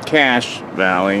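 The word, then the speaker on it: Cache Valley: but this is all cash valley cash valley it's pronounced even though it doesn't look like it but there's a guy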